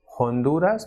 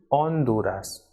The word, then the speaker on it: Honduras: remain silent for example it is not Honduras what it is on Dora's and not ahora but